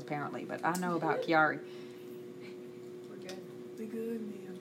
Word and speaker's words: Chiari: Chiari. The H is silent. I'm not gonna say just. There's 2 types of Chiari malformation.